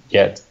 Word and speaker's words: yet: Todavía, yet. Okay. In English, there's a very clear difference between the Y, that sounds like a Spanish E. Mm-hmm. The sound is yet. Yet.